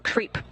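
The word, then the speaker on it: KREEP: weird component that we call creep and it's spelled k re e e p in sense of potassium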